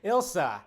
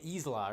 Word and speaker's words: Ilsa: I always say her name wrong. Ilsa. I always want to say Isla or something.